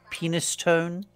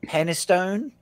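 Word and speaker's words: Penistone: a butthole Lane uh penis tone what oh boy it's it's I think it's it's where you work out I think it's meant to be penone but it's spelled penis tone there's a town in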